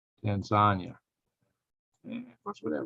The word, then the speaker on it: Tanzania: good number and zanya now it's not pronounced Tanzania it's pronounced Tanzania mother locals Tanzania and of course we